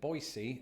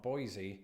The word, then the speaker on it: Boise: learned a couple of things firstly that locals pronounce it Boise and not Boise and also that in the states of Idaho